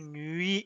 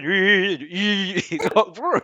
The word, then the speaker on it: nuit: So it is belle nuit, nuit, nuit, oh nuit d'amour. La u, the other u that doesn't go that far, but it is a different u.